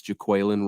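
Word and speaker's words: Jaquelin: the pronunciation came out it's Jacqueline Roy uh not Jacqueline Roy which a lot of fans were saying early on it's juquilin Roy uh it's the nose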